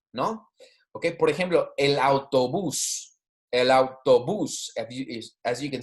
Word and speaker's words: autobús: Ok, por ejemplo, el autobús. El autobús, as you can see, my pronunciation, the emphasis is on the last syllable. Okay, el autobús, because we have an accent there.